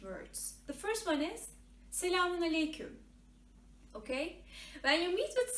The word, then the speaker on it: Selamun Aleyküm: And you pronounce it like Selamun Aleyküm. Selamun Aleyküm. Okay? The correct version is Selamun Aleyküm.